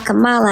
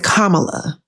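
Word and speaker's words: Kamala: really know much about Camala I looked at him I said her name is kamla the least you can do is say her name correctly and if you look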